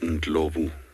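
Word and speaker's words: Ndlovu: local name for elephant it's actually spelled in globe often just pronounced and lovely it's actually more zulu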